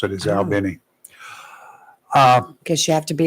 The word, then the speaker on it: Albany: they pronounce it. Is Oh. Albany.